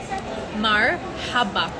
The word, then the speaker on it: مرحبا: Marhaba. And then you can roll your R. Marhaba. Not marhaba. Marhaba.